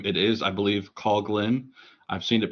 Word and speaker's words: Coughlin: it is I believe cogin I've seen it pronounced several ways but the Temptation is to say Coughlin that is not correct it's the Cog so father cogin I think it may